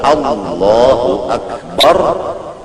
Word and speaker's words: Allahu Akbar: membacanya bujur membacanya kalau Allahu akbar bujur jangan membaca a menjadi Ain Akbar dibacakan seperti Allah u Akbar itu Hamzah dibaca dengan Ain maka hukumnya kadas takbirnya Adapun apabila membaca Allahu